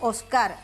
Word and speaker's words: Óscar: Aquí le decimos Oscar, con acento en la última, pero sí, es Óscar, sí.